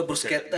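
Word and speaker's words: bruschetta: ब्रुशेत्ता अपन, उसका प्रोनाउंसिएशन ब्रुशेत्ता है ही नहीं, उसका ब्रुस्केत्ता मैं है। भी ब्रुशेट्टा। ब्रुस्केत्ता होता है उसका ब्रुस्केत्ता।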